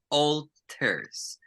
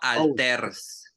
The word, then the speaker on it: alter: pronunciation Alters no alter because Mexicans we turn to use the a as the a because we're a e e o yes but not in English Okay so we don't say alter no we say alter pronunciation alter alter very